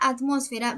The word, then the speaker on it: atmósfera: Ahora, en la palabra atmósfera vemos que la sílaba tónica está en la última, penúltima, antepenúltima sílaba.